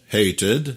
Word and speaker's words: hated: To hate, hated. on dit bien le son ed, ed. Parce que ça termine par hate.